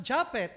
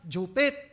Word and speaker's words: Juphet: Oh now maybe you are contesting why Japet uh my name uh pronounce as Japet IJU yan Jupit ay nanay ko lang magtawag sa akin ng Jupit ba at first brother I